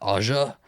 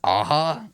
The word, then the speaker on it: Aja: it is directed by alexander ah i didn't know how to say his last name i was i've been saying it my whole life aja and i guess it's aha who he wrote and